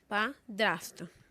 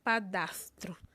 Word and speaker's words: padrasto: Exemplo, padrasto é o certo, e não padastro.